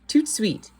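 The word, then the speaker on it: tout de suite: You say it like this, tout suite.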